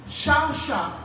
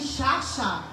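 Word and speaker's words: shachah: And worship Et adoration, is shasha. donc ça se dit chacha.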